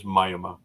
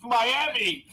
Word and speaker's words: Miami: know Jay did have a comment it is Myoma so that's how they pronounce it yet in Klingon it's mayama in Latin it's mayama in Spanish it's oh don't get it oh it's Miami it's Miami Miami rest of the world is